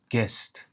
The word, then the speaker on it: guest: You see, the pronunciation is a little bit different from the writing, the spelling. Guest.